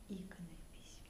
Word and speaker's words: иконопись: споры между искусствоведами и как правильно произносить, да, то есть вот искусствоведы всегда в основном произносят иконопись. Но что интересно, ни от одного иконописца я такого повторения не слышала. Они все повально говорят ударением на слове икона.